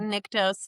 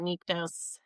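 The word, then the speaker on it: Nyktos: I take issue with the pronunciation guide. Niktose, not nectos.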